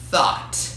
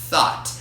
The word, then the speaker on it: though: A segunda palavra que a gente vai trabalhar agora vai ser com a palavra thought, que nada mais é do que o passado irregular do verbo think.